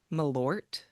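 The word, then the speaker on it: Malört: Do you know how to pronounce this? Jepson's Malort.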